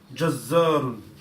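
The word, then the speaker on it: جزر: Jazzarun. Jazarun. Jazzarun. Jazarun. Remember, we did with Shadda, Tashdid, we did. You have to put emphasis, isn't it? So Shadda means in force. So you put force.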